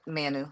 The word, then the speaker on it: Manu: Is that how you That's Manu. That's how you pronounce Manu?